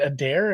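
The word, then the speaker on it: Adare: Like, just let him victory lap at is it Adair?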